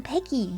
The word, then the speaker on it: Peggyx: I'm I'm pecky I'm pecky the x is silent the x is silent